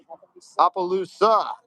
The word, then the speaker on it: Opelousas: Not Appaloosa. Opelousas.